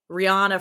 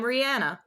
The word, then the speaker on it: Rihanna: stuff like, "Hi, I'm Rihanna." and everybody's like, Rihanna. Yeah, Rihanna, because I guess that's a more, I don't know, American way to pronounce it.